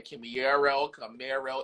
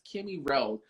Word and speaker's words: Kimmy Rowe: I didn't say Camaro, it's Kimmy Rowe.